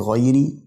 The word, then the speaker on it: غير: لو خدت بالك من الراء في غيري مكسوره كتير جدا برضا ناس بتقراه مفتوحه هي مكسوره فبنقولها الحرف الميم في المغضوب برضو